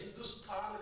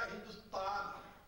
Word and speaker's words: हिंदुस्थान: वह देवताओं द्वारा निर्मित देश हिंदुस्थान कहा जाता है। ये शब्द है हिंदुस्थान। अब हिंदुस्थान का अरबी पारसी में बन गया हिंदुस्तान, क्योंकि थ की जगह त का उच्चारण पारसी लोग करते हैं।